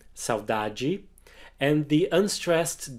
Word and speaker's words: saudade: The strongest syllable is the middle one, saudade, and the unstressed D